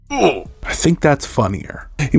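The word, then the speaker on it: Ouphe: I know it's supposed to be pronounced Alf, but I really like it being pronounced Ooh.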